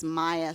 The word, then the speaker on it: Maja: well first of all my name is Maya Maya with the J it's not a made-up name Maya with the J is a real name j is pronounced why I in English but if you Google Maya